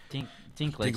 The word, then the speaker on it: Dinklage: Dinklage.